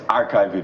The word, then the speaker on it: Archin: laal is executive director archin you have to get that right even though it's arch. but it's archin where you pronounce it in full thank you so